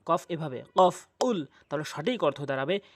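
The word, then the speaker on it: قُلْ: আর কফটি যদি জিহ্বার গোড়া উপরে তালু থেকে উচ্চারণ করেন তাহলে সঠিক অর্থ দাঁড়াবে। কুল কফ এভাবে। কফ কুল।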